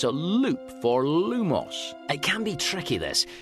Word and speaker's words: Lumos: Lumos.